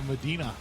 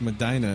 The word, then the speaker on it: Medina: even said it correctly everybody else calls a Medina it's Medina it rhymes with vagina how the hell does